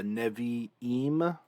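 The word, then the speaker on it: נְבִיאִים: tanakh the torah the nevi eem and the ketuvim the reason why navaim has an e here and why ketuvim has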